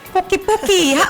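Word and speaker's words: poqui-poqui: Puki-puki. What's the right way to pronounce it?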